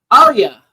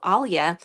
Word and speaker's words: Alya: shortened my name to Alia although even uh back in my native country people could call me Alia we have like a little L sounds and we can soften